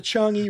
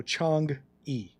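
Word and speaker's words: Chang'e: Well, the E is pronounced in Chinese. It's pronounced uh so give me that one. But we'll call we'll call it a Chong E.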